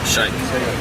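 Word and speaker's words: Shaikh: giv money for 50 you pronounce his name s h a i k h shik shik so shik is 51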